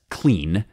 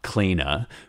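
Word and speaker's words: clene: Like here I learned, for example, that the final E in words is not pronounced. So if I see C-L-E-N-E, that's clean, not cleana, right?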